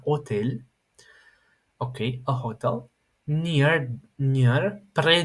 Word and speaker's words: hôtel: Dans un hôtel, okay, do not pronounce the H, it's not an hotel, it's an hotel.